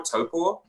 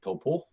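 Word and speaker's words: Taupō: it, and he said it's like toe, like the toe you have on your foot, and then paw, like a bear paw, toe paw.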